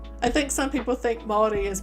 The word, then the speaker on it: Māori: I think some people think Māori is pronounced Maori, people that aren't from New Zealand, but yeah.